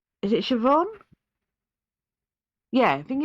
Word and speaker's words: Siobhan: So it is spelt completely different to how it's sort of said. And it's is it Siobhan?